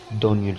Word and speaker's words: Daniel: Daniel salió, me informó él, pronunciando el nombre de su hijo con el acento en la primera sílaba.